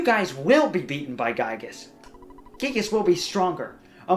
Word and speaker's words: Giygas: but everybody calls him Giygas because Giygas is kind of stupid, so I've been swapping back and forth on purpose. And Giygas is more of the Japanese pronunciation. Yes, Giygas is how it'd be phonetically pronounced.